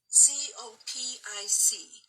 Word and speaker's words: Copic: Copic. C-O-P like Peter, I-C. Copic.